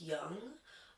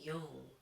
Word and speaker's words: Yong: Often it's pronounced young, but it's actually Yong, which means dragon.